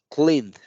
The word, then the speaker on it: cleaned: De la N me brinco a la D. La E no la estoy pronunciando. Cleaned.